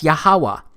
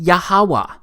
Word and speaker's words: Yahuwah: simple back then that it vocalized each consonant with an AA sound without specifically marking that sound between consonants so this yhw H it's pronounced yahuwah it also turns out